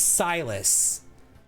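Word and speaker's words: Cylus: And so this guy, his name is Silus, but it's spelled C Y L U S.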